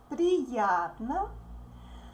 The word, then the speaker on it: Приятно: Приятно. С вами познакомиться. Познакомиться. This ending is pronounced like sa, sa, sa.